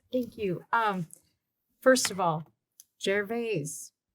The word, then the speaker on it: Gervais: First of all, Gervais, Is that really how you say it? I've called it Jarvis my whole life. Jar- I think it's Jarvis. It's Jarvis and local. Local but it- vernacular. The Is, French connection.